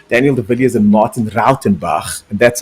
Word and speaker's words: Rautenbach: And of course, in the silver category, we got Jaco Nadia, Daniel de Villiers, and Martin Rautenbach. And that's how you pronounce that name, Daniel.